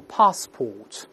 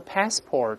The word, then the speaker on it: passport: 意思，但英国人读成 passport，前面发 a，后面发 o，读成 passport，但在美国人呢读成 passport，这个 a 变成 a，这个 o 变成 or，加卷舌音了，所以